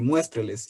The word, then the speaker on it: muéstreles: Es la A, la antepenúltima sílaba es la tónica y presenta un diptongo, por ello la tilde recae en la vocal fuerte, son 3 sílabas.